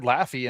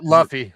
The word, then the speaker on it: Luffy: But they had Laffy in the what the Christmas parade, the the big national one up there.